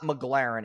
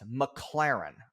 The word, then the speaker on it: McLaren: It's not McLaren, it's McLaren.